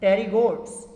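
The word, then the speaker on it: Pterygotes: जेके पुट टेरीगोटा वारा आहिनि, टेरीगोट्स, इन्हनि में पी साइलेंट अथव।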